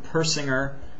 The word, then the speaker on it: Persinger: your coach and trainer Persinger soft G and today is another